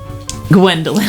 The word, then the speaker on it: Gwhendoughlent: might actually air properly, here is how you spell Newman's mother's name. GWHENDOUGHLENT. Gwendolyn. the T is silent.